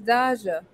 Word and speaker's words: Daja: that's interesting okay so apparently according to the pronunciation guide dodges it is daja her website is good good to know okay